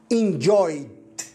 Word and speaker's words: enjoyed: الاي دي عاده هي تضاف للفعل يحول الى الماضي، هنا ننطقها enjoyed. طبعا هذه الاي دي غالبا تنطق في اخر الكلمه مثل التي او مثل الدي، فهنا نطقت enjoyed مثل الدي enjoyed.